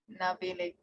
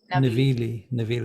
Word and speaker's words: Navigli: Navili. They don't pronounce the G. It won't be a G. So it'll be like Billy. Navili.